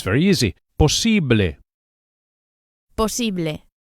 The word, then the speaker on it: posible: Posible. The second syllable, the E, is accentuated. Posible. And the final E sound, as always in Spanish, is a pure vowel, not A. Don't say posible, but posible.